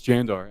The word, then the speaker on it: Jandar: to help us out is it yander or jander and he's like it's jander and I'm like I was